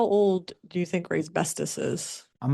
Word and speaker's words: Raybestos: How old do you think Rayb Bestus is? I'm gonna go with 50 plus. 77. 124 years. What? Apparently Ray's bestest has been since 1902. Rhymes with asbestous and we got to